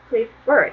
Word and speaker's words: prefer: 그렇다면 하나만 마지막으로 더 예를 볼 건데 prefer 이거는 이제 사전에서 역시 들어보면 prefer 이렇게 발음이 나거든요.